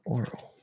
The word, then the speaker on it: oral: Aural versus oral. So difference of pronunciation, one uses an R colored ah, the other one uses an R colored O.